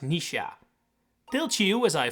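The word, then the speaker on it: Noish: I have been calling this guy noise the entire time turns out is actually pronounced Nisha.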